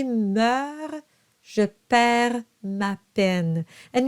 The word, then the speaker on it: meurt: And it's just to signal to you that those letters, those consonants are silent. It's not meurt or perds. Those are silent. So, s'il y meurt, you pronounce the R, but not the extra consonants.